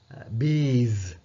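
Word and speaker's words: bees: எப்படி ப்ரொனௌன்ஸ் பண்றது உச்சரிக்கிறது பீஸ் இப்ப எஸ் என்று கடைசிக்கு வந்தாலும் அதை நாங்க ஜெட் சத்தம் கொடுக்கணும் பீஸ் அப்படி நெக்ஸ்ட் அடுத்து பாருங்க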